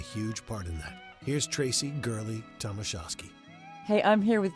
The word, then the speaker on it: Traci Gurley-Tomashosky: Here's Traci Gurley-Tomashosky. Hey, I'm here with Traci Gurley-Tomashosky.